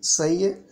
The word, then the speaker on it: psi: ஸோ பிஎஸ்ஐ சை அப்படின்னு நம்ம பி சைலண்டில் இதை உச்சரிக்கிறோம்.